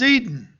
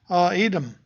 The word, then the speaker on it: Edom: But what he is condemning is Edom, or Edom, however you want to pronounce it, wherever you put the accent.